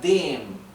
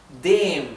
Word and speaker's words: dem: artículo pasa a ser dem, ¿verdad? Nuevamente, fíjense que pronuncio la E más larga porque acá tenemos una M sola. Dem, no digo dem, digo dem, ¿verdad?